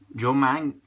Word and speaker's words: Manganiello: about last week, was Joe, I'm going to pronounce his name correctly, Joe Manganiello.